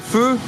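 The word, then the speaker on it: phở: Donc voilà, j'ai commandé un feu. Un feu, ça s'écrit comme ça, voilà. P-H-O.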